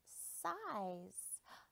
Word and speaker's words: size: How did the sun get that size? See the silent E told the eye to say its name? Size.